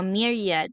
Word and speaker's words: myriad: Let me correct my pronunciation. It's myriad no myriad.